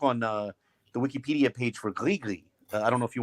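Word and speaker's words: gris-gris: I think it's separate, and it's pronounced Grigri. I think the S is silent, if I'm not mistaken, because it's from Francophone Africa, even though they're using Arabic.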